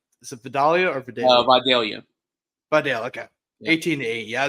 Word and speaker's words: Vidalia: Vidalia. Vidalia, okay. 18-8. Yeah, I just want to make sure. I don't want to mispronounce names and everything.